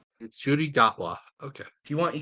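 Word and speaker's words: Ncuti Gatwa: interview I saw with him it is apparently pronounced nudi gatwa nudi gatwa okay if you want you can just call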